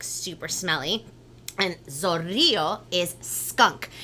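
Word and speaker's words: zorrillo: and zorrio is skunk so it's kind of like a big word like lots of syllables so everybody let's break it down on the count of three ready one two three that's three syllables now make sure you roll the r's ready i love that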